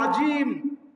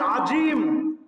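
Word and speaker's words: عظيم: আযীম, সুবহান রাব্বিয়াল আযীম, আমাদের জয়ের পরিবর্তে যদি জিম উচ্চারণ হয়, তখন এখানে অর্থ পরিবর্তন হয়ে যাবে। যেখানে আল্লাহ তাআলার পাক ও পবিত্রতা আপনি ঘোষণা করছেন, আল্লাহ তাআলার মহত্ব প্রকাশ করছেন, সেখানে এর অর্থ যদি আপনি বলেন আজিম, জিম দিয়ে যদি পড়েন, তখন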